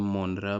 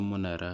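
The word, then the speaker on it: Monera: इसे कुछ लोग किंगडम मोनेरा भी प्रोनाउंस करते हैं, लेकिन सही प्रोनाउंसिएशन किंगडम मोनेरा है।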